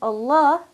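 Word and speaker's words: الله: in Allah carries Adama so therefore I will pronounce Allah with a heavy full mouth mohammed ur rasoolallah okay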